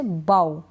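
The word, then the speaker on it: bough: मैं समझाती हूं आपको जैसे कि बी ओ य जीी एच क्या है यहां पर जी एच नहीं पढ़ा जाएगा बी ओ यजी एच बाउ क्या पढ़ रहे हैं बाउ यानी कि ओय के बाद ठीक है ओय के बाद अगर जी एच आता है ना तो अब हम हम जीएच को नहीं पढ़ते हैं ये आपको ध्यान रखना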